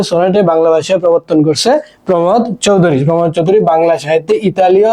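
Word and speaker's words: প্রমথ চৌধুরী: গদ্য রচনাটি কার রচনা প্রমদ চৌধুরীর রচনা তোমরা প্রমদ চৌধুরী আবার উচ্চারণ করতে গিয়ে প্রথম চৌধুরী বলে থাকো আচ্ছা যাই হোক বীরবলে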